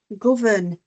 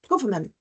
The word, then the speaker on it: government: They missed the N because often when we say those words out loud, we don't pronounce it. Say environment, government, we don't pronounce that N, but it's there.